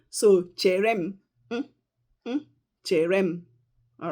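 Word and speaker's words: chere m: All right, so cherem, cherem.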